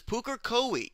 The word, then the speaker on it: Pukekohe: This is Pukekohe. This is how you pronounce it, and this is a